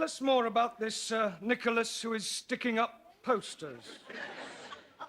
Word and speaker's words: Nicholas: upon a time there was a woman called nickel as it's pronounced Nicholas all right once upon a time there was